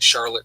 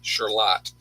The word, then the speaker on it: Charlotte: So, and that's New York, not Charlotte, North Carolina. It's Charlotte. Totally different. Same spelling, different way to pronounce it.